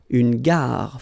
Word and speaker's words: gare: Une gare. Final not pronounced. Une gare.